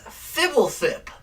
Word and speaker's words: Fblthp: But everybody in the Magic community pronounces it as Fibblethip.